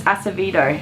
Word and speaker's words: Acevedo: Acevedo? It's Acevedo. Acevedo.